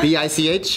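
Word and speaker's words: Bich: Yeah, that's a first name, Bic. But yeah, it's like pronounced Bic.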